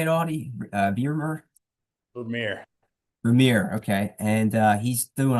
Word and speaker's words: Vermeer: Vermeer.